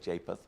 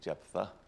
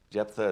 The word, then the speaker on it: Jephthah: the story of jephthah or some people say japeth but i say jephthah jephthah is kind of like if tinky if you